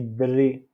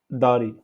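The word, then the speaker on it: دري: Quand on prend l'exemple de dri, dri, on a dit, on parle pas, quand on dit dri, on dit pas dari, parce que dari, c'est la maison.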